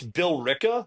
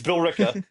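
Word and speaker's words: Billerica: It's Bill Ricka but it is spelled Berica. It's Bill Ricka.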